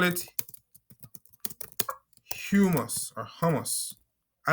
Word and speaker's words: humus: The appropriate name was humus. Humus, right? Exactly. But some people, and I kind of relate to it, feel like pronouncing it a hummus gives a better name, but humus is the correct terminology.